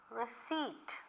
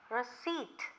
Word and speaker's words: receipt: English I want the receipt how did I pronounce his word receipt this P is silent don't say received okay